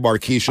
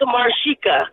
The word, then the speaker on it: Marika: Livermore maresa good morning maresa what's going on oh my goodness oh my goodness you guys always say my name wrong it's Marika oh Marica my bad